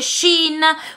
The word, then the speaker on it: Shein: Sì, fidati di me, non so quanto valga, ma posso garantirti che si pronuncia Shein.